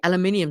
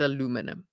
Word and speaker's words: aluminum: But once you have electricity, aluminium is dirt cheap, right? For my American audience, I think it's aluminum. I think you pronounce it aluminum.